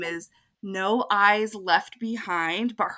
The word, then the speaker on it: Noh: So her practice name is No Eyes Left Behind, but her last name is spelled N-O-H.